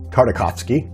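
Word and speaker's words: Tartakovsky: i'm just dejected because i also have those tartakovskvi figures coming karakovsky that's how you pronounce it coming from walmart and the only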